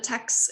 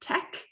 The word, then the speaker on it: TeX: So instead of text, it's pronounced tech.